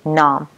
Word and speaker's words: numb: After having it, of course, your gum will be numb. Just be careful. So this is how we write it, but we don't pronounce B, right? You say numb.